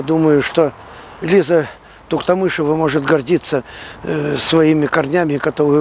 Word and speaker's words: Туктамышева: Кстати, скажите четко и для всей массовой аудитории, как все-таки правильно, Туктамышева или Туктамышева? Туктамышева.